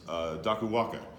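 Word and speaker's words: Dakuwaqa: For instance, Dakuwanga, the Q in Fijian is pronounced NG, is a shark god who is basically, it's a loose interpretation, but it's the King Arthur of Fiji.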